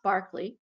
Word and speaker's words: Berkeley: was befriended by governor barkley yes it's spelled berkeley but his last name is pronounced barkley and barkley apparently thought that he